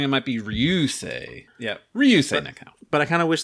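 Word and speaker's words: Ryūsei Nakao: Ryosei Nakao.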